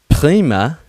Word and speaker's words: prima: I'm doing very well Prima Prima you don't have to roll your r as much but I do Prima is great you're